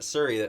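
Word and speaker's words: Shuri: You got to put emphasis on it. Suri.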